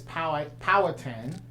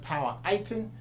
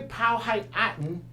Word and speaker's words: Powhatan: to Seneca MOCA Native Americans commonly known is power power tan but properly pronounced power item basically POW height Aten was Mahon cenotes tribe actually and so that